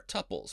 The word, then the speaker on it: tuple: Now the ordered sets inside of parentheses, like color, are tuples, pronounced tuple like quintuple, or tuple like quadruple.